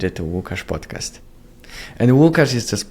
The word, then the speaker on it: Łukasz: So I changed it into like English-friendly pronunciation of my name. So if you say Łukasz, it's how you would say my name in Polish.